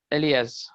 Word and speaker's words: alias: So I'll say this, Elias. काय सर? Elias. The standard operator word is Elias. ALI काय sir spelling?